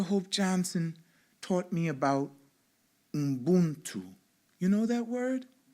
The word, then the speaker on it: Ubuntu: You can say it with me, Ubuntu. 3 syllables, right?